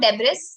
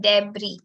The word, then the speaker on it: debris: think is commonly known it's not debris it's debris okay so from the